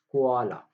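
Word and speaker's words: koala: कोआला, ठीक है? That's how you pronounce it, कोआला।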